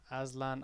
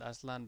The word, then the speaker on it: Aslan: i call her aslan because azlan aslan is i pronounced it aslan because it's it it just means uh sorry lion she is like a